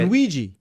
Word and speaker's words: Ennuigi: It's spelled ENNUIGI in UAG? Okay. Not right. You're but... like, no, it's Bob. So are you familiar with Ennui? Ennui, yeah. Yeah. Ennuigi. Ennuigi is how it's pronounced.